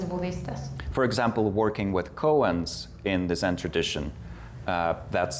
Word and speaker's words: koan: For example, working with koans in the Zen tradition, that's the Vipassana practice. Sorry? Koans. Colons? Koans. It's spelled as K-O-A-N. Koans.